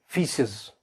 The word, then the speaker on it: faeces: अब मोस्टली ये वर्ड कैसे प्रोनाउंस होता है? फीसेस।